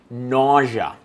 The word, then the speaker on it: nausea: Nausea. N-A-U-S-E-A. It's spelled a little strange, but nausea is how you pronounce that. Looks like it should be nausea, but it's actually nausea.